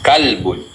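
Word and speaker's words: كلب: Kalbun, Kalbun. This one? qalbun. Tayyib. Is there difference? Yes. Yes. But some of the English speaker, they make mistake. This is kalbun. This is qalbun.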